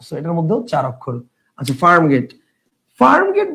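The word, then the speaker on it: Farm Gate: জি এ টি ই যদি আমরা এভাবে উচ্চারণ করি যে একচুয়াল অনুসারে উচ্চারণ করি তাহলে কি হবে তাহলে উচ্চারণ হবে ফার্ম Getty so this is নট ফার্ম Getty this is ফার্ম গেট so definitely এটা হবে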